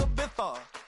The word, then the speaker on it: Ibiza: Yeah, it's pronounced Ibiza, actually.